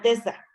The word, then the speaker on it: Bethesda: principalmente asociados de igual Se forma a la pronuncia familia. Bethesda.